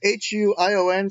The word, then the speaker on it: Huion: So I'm currently using I think it's pronounced Hawaiian. It's Huion, so I call it Hawaiian.